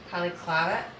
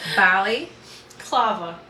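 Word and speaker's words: balaclava: or if it's my poly clovet it's right here your what that what is it called poly clet I can't pronounce that b clava Bali clava so it's with a B mhm the one that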